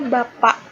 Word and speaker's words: bapak: Sehingga penulisannya pakai K, bapak, tapi dibacanya bapak. Tidak memakai huruf K.